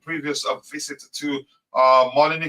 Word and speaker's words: Molineux: The Blues are winless in 3 previous visits to Molineux, is how you pronounce that stadium, drawing 1 and losing 2.